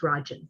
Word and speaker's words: Rajan: His name is Rajan, so 2 syllables.